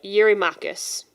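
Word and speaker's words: Eurymachus: My translation says that he's it's it's pronounced uh Yuri Makus.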